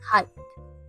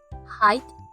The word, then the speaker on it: height: to say this word first we start with the H sounds like in the word h and then we add the a sound like in the word my a finally we end